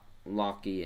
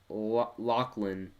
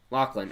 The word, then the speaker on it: Lachlan: is lachlan you said loki and the h is silent lachlan lachlan okay i like the